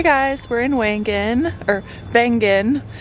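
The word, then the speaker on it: Wengen: we're in wangan or ban it's a w but it's pronounced like a V and we just found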